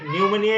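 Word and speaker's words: pneumonia: আই এ পিনোমিমেনিয়া মানে নিউমেনিয়া কিন্তু পি টা উচ্চারণটা হয় না পি টা দিতে হয়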